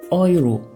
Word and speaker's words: Euro: Le EU se prononce Oi. Oi, comme dans Euro, c'est Euro, Europa.